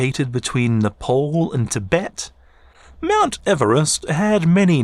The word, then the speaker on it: Everest: George whom the mount mugged the moniker off pronounced his name Eve rest not ever est but I dig rest since its quote unquote discovery by the British in 1849.